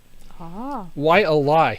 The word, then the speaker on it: Waialae: is why Ely why uh LA yes ly Waialae so I don't know if you heard -